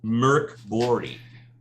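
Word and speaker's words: Mörk Borg: He's got Index Card RPGs by Modifius, and we were talking about the aesthetics of Mirkborg, and how it's actually pronounced Mirkborg is the Swedish pronunciation, and I always forget to do that too.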